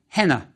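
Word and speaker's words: ḥnꜥ: How is it pronounced? Yes, something like henna.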